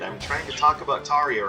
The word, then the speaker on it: Tarja: And for those of you that aren't sure why I'm pronouncing it like that, I mean, those of you who are from the kind of northern parts of Europe where she hails from will understand. But keep in mind, the J in her name, which I should explain, her name is spelled Tarja.